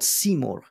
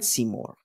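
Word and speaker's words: Simorgh: there is this um mythological being it's called seor seor is actually the spirit of intelligibility I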